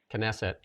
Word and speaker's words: Knesset: And I don't if I'm going to get this uh pronunciation right, but Donald Trump's speech in a canstitic canet Kesset Knesset.